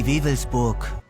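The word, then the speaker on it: Wewelsburg: So how do you pronounce it in German? Die WAVEBURG.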